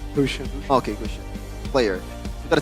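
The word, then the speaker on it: Gusion: Is it Guushian or Gushian? How do you pronounce it? Kushian.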